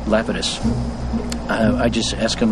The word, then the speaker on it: Lapidus: this Yahoo hey leus they pronounce it leitus but I think the correct Greek uh is uh Lapidus uh I just ask